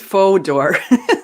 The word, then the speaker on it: Fodor: experiences were not necessarily watching okay it is faux d'or so i was like sorry if i mispronounced your name anywhere james uh please take